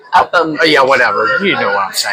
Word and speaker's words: Upham Beach: Upton Beach? Is it Upton? No. No? No. No, Upton's farther up. Upham.